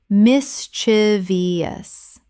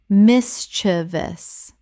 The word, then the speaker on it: mischievous: exacerbate exacerbate Word 170 mischievous Common mispronunciation mis-chi-vi-ous Correct pronunciation mis-che-vous Three syllables only. There is no fourth syllable.